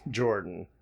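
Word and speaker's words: Jorjdin: of here georgeton no is pronounced Jordan no yep I am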